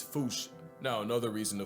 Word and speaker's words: fossa: Experts feel free to correct me, but apparently that is the closest to the OG Malagasy pronunciation. It's just that the global game of telephone has Americans saying Fossa.